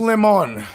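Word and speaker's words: Jack Lemmon: really not john whatever the guy's name is pronounced lemon lemon yeah uh he did uh the odd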